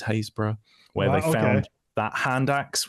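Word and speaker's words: Happisburgh: where I'm sat now a place called hazra spelled with the double P sounds like it should be said as hapis spur but is hazb where they found that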